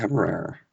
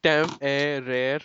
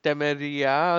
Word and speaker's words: Temeraire: Yeah, I think that's Temeraire, or you can say air, however it is. Yeah, that's how I say I think for the longest time I was pronouncing it as Temeria or something, but Temeria is completely else.